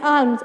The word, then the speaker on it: alms: So people giving them food, money as alms. Alms means charitable donation. So underline the word alms. Here L silent letter.